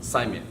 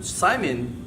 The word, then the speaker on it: saimin: today we're going to be showing you um Simon um and I'm from capana Community College from